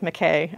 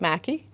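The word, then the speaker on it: Mackay: she does pronounce it Mackey that's what I have read that it looks like McKay I know but the family apparently pronounced it Mackey another fascinating character and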